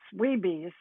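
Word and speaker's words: WBEs: smes wsmes pronounce wismes women's business enterprises wbe's pronounced weebies plus female founders women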